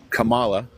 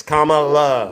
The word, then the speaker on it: Kamala: I mean, you were saying, you know, Kamala is going to tax... Kamala, sorry. Kamala. Yeah, I put a video up where she has her nieces telling the world how to say it. All right, it's Kamala.